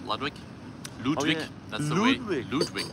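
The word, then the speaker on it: Ludwig: Ludwick that's the way Ludwick that's the way to pronounce it we met lud but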